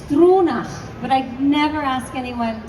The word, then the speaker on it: Stronach: So it's a Gaelic name. So it's Struna, but I never ask anyone to pronounce it. So we just say Straw.